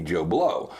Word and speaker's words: Bleau: And he would say Joe, and he would spell it B-L-E-A-U. Love it. But it would be Joe Bleau.